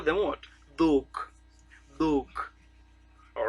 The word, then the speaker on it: dhok: Dhok.